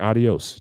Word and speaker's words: adio: Adio. Like adios. Just adios without the S on it. Just drop the S.